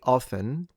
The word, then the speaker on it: often: I disagree, actually. I think the T is fine. I don't say it because I'm lazy like that. So I do say often. Yeah, I often have milk in the morning, or I often go to the supermarket. I do say often. Very rarely I will say often, but I do not believe it's wrong to pronounce the T.